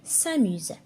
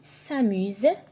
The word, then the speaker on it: s'amuse: prononce Z d'accord ici s'amuse ça se prononce Z pourquoi parce qu'il y a une voyelle ici une voyelle ici on a le U